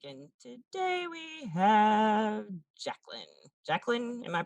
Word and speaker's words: Jaclyn: Jacqueline, am I pronouncing that correctly?